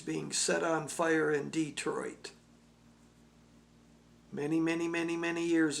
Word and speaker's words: Detroit: of cold coffee here people who are Michiganders real Michiganders know how to say Detroit it will be enunciated and pronounced many other ways but Michiganders it's Detroit I have played music